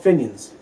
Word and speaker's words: Fenians: So you won't be going to the Fenians? Or how do you Yeah. how do you pronounce that, by the way? Apparently, it's called Finians.